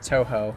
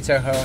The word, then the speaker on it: Touhou: a lot of the it's actually would be pronounced Touhou I think that would be the the correct pronunciation or the closest in English the uh the Touhou